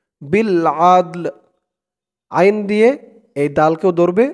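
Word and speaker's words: بالعدل: এখানে উচ্চারণটা খেয়াল করবেন, অক্ফ করার কারণে উচ্চারণটা এখানে এমন হচ্ছে বিল আদল।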